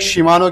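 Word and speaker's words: Shimano: श्री मानो तो यार स्पिल को देखा करें स्पेलिंग को एस एच आई एम ए एन ओ शिमानो बन जाता है इसमें इस तरह का आता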